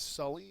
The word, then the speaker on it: sully: submit next one is Sully and I chose these uh look like baseball pants that are white and they're pretty Sully there um it's a verb it is um the first syllable is accented it means to soil